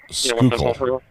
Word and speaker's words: Schuylkill: Schuylkill is pronounced Schuylkill.